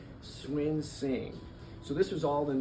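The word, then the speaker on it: Cunxin: Of course, all the Houstonians called him Cuxin, but he came in and said, "Can you tell me how to pronounce that? Swin Sing."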